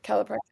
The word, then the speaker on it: calprotectin: Calprotectin.